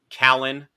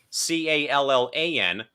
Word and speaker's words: Callan: then I'm like okay it's number 11's name pronounced Callan and he said oh yeah yes it is